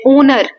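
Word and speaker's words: honour: Then ओनर इसमें एच नहीं pronounce करते।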